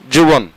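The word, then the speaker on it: جبن: আবার অনেকে বলে থাকে জীবন সঠিক উচ্চারণ হচ্ছে যুবন পনির বা চিজ রুস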